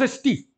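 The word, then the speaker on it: ἐστί: Adelphos esti, reparem como eu pronuncio. Adelphos esti, pronuncio tudo junto. É uma palavra enclítica. Portanto, este esti, ele não tem acentuação própria. Ele depende da palavra anterior. Por isso, reparem, ele não tem acento.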